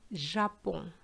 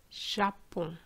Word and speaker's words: Japon: For example, for the country Japan, we say in English Japan, Japan, but in French it's not going to be the same. You're just going to say Japon, Japon.